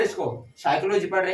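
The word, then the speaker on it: psychology: पढ़ रहे हो इसको साइकोलॉजी पढ़ रहे हैं की 20 cycloji पढ़ रहे क्या पढ़ रहे हैं साइकोलॉजी ठीक है तो इसमें हमारा पी है वो क्या है हमारा साइलेंट है उसका प्रनंसीएशन नहीं हो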